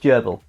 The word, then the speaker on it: GRBL: Most hobby laser cutters use G R B L, pronounced Gerbil, to control their motion and laser power using g-code that your computer software outputs.